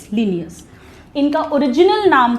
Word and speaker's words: Linnaeus: Students, बहुत बहुत बहुत important direct question, Carolus लीनियस। Spelling ध्यान रखिएगा, LINNAEUS, लीनियस।